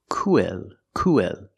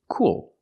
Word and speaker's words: cool: welcome you subscribed cool we don't pronounce the word co co the word is cool cool we have the oo sound like Moon and soon plus the dark L cool or cool